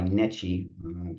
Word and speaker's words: NECHE: We are accredited by NECHE, that is the pronunciation of the word.